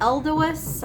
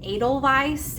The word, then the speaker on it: Edelweiss: I was saying Edelweiss when I was talking about this website, and that's just how, when I see the word, I say it in my head. But Jen corrected me, and it's actually Edelweiss.